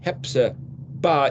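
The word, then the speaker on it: Hephzibah: So there's a word hepzibah. Instead of pronouncing the chet with the scrapey sound, if you pronounce it as an H, it's hepzibah is in her. So my delight is in her is hepzibah.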